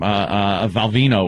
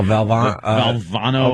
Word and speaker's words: Valvano: Valvino was still coaching. Oh, Valvano or Val. You just the dead guy. Yeah. The dead guy. Valvano, right? Yeah, you mispronounced his name to a point.